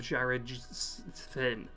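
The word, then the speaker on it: Jared-Syn: that is Metal Storm, The Destruction of Jared Finn. That's how you pronounce it correctly, for those who want to know.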